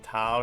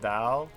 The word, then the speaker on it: Dao: One thing you feel is wrong in the dub is saying tao instead of dao.